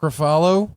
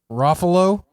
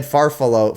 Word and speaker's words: Ruffalo: It sounded like you said Farfalo for follow. Oh, no. I mean, it's spelled it's spelled like buffalo, but with an R at the front.